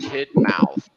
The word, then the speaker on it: Tidmouth: spreading my way to Tidmouth it's pronounced tit mouth uh and I'm out